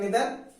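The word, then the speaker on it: neither: या अपने पास आ जाए आइदर, वैसे आइदर नाइदर नहीं बोलते, इसे बोलते हैं निदर, इसे बोलते हैं इधर, इधर निदर, बट हम इसको बोलते हैं नाइदर आइदर। तो सही प्रोनाउंसिएशन निदर है, इसका प्रोनाउंसिएशन इधर है।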